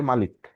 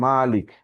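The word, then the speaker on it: مالك: আরেকটা মানে মিম শুধু, যদি এই খাড়া জবর না দিয়ে, শুধু মাদ না দিয়ে, শুধু মিমের ওপর জবর দিয়ে পড়ে মালিক, টানটা হবে না, মাদটা থাকবে না, এইটাও আছে। আবার মালিক, দুইটাই উচ্চারণ আছে।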